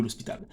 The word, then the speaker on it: l'Hôpital: l'hôpital la règle de l'hôpital ou bien la règle de l'Hospital certains disent règle de l'hôpital d'autres disent les règles de l'Hospital aucun problème avec la prononciation c'est valable et pas là le problème ok si nous